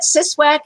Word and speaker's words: CSWAC: the short version um we usually call it siswack it stands for the center for the study